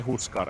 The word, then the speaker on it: Huskar: a hero name um do you have your own way of pronouncing Husker in your native language is it just Husker or is it like uh oh it's like we say in Finnish we say huskar as well or who said